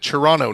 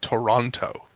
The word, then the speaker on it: Toronto: Toronto, not Toronto. That extra T does not exist.